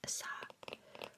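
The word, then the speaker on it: 사: The Korean word for four is pronounced sa which is also the pronunciation for the ha character for death.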